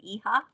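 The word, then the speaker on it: hija: And I don't know if it's cuz this e-ha of water came up. I think I'm saying that right. H I J A is a e-ha in Spanish.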